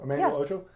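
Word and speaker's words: Emmanuel Acho: That I actually saw this morning, Emmanuel Ocho. Mm-hmm. Is that how you say his name? Emmanuel Ocho?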